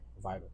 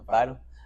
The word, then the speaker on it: Vidal: Is that how you pronounce that right? Vital. Yeah. Vital. All right. I had a homie named Vidal.